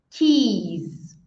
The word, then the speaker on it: keys: diferente, chaves no plural não termina com som de S como beijo, termina com som de Z, porque tem vibração e aí termina com som de Z. Então, aqui beijo e chaves são duas pronúncias diferentes, o som do I e o som final.